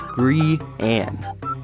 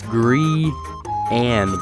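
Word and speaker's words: Grian: graeme i think it's ryan lawless grind it's gree anne it's gree and by the way say brian but with a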